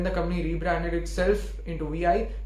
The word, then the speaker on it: Vi: company rebranded itself into VI, it's actually not VI, it's V. It's pronounced as V.